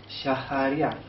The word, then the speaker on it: Shahryar: Aquí las H se pronuncia como una J, Shahryar y Shah-e-Zeman.